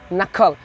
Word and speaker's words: knuckle: number four nakal k-n-u-c-l-e knuckle the pronunciation will be knuckle but writing will be knu the word will be started by k anguli or this one